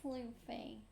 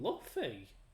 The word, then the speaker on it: Luffy: There's two F's. In Luffy, yeah. Which is why it's pronounced Luffy.